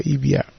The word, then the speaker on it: Ibiop: Ibiop. No, you're good. It's just pronounced, I guess, in the Hispanic way, Ibiop.